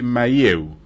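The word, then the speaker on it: Mahieu: interesa cómo se llama el autor Ja de maieu se escribe m a h i e u yo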